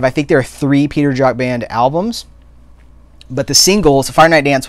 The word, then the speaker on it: Peter Jacques: it's jacques it seems like it'd be like peter jacques but it's it just it was like j okay so it was like you pronounce it j okay peter jock uh he was i think it was a